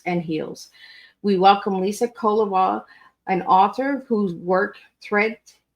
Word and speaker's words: Kovala: It's Kovala. It's just the emphasis at the beginning syllable. So Kovala.